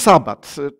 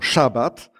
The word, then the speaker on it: szabat: Co to jest sabat? Poprawnie właściwie powinniśmy wymawiać to słowo szabat.